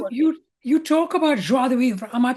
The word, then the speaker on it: joie de vivre: But And that's you what we, you talk about joie de vivre. Am I pronouncing it right, by the way? yeah, Joie de almost, vivre. yeah. So you talk about joie de vivre, the joy of living.